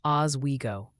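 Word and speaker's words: Oswego: It's pronounced Oz Wego.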